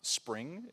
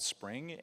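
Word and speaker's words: Xpring: was maybe two days ago, a program called Spring. It's pronounced, it's spelled X-P-R-I-N-G. All of our products say X in front of it. I don't know. But it's called Spring, and we are funding other companies that could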